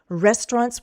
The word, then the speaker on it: restaurants: Restaurants will be the focus, and that's where we'll go down. Restaurants has 2 syllables. The first syllable is stressed.